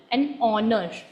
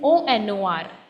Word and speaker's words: honor: However, the h in honor is silent, so we pronounce it, then the pronunciation starts with the vowel, an honor. So h is silent, so we pronounce it as an onor, right?